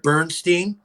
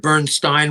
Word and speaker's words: Bernstein: It was a music movie with music by Leonard Bernstein or Leonard Bernstein, whichever way you want to pronounce it.